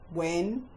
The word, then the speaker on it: when: The first set of words that have a silent H are the question hand words when, which, why, where, and what.